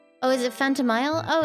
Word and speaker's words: Phantomile: It's pronounced like chamomile? Phantomile?